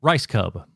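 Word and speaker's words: Rajskub: How do you pronounce the last name? Rice Cub.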